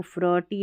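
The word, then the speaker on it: fraught: डी आर है ना, इसको ड्र, एफ आर को फ्र, टी एच को थ।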